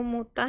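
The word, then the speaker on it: متعة: marilah supaya kuberikan kepadamu mutah dan aku ceraikan kamu. Oke, bacanya mutah kepadamu mut'ah dan aku ceraikan kamu dengan cara yang baik.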